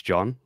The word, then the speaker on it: Jean: was kicking myself because I should know it's it's it's John because it's like Jean Luke Bard should have just got